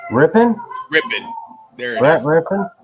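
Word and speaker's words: Rypien: Rippin.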